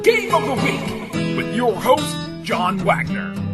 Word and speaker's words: Wii: one would buy well let's get the show on the road Lise is our first guest today notice the fact that I pronounce it we and not why Nintendo decided to name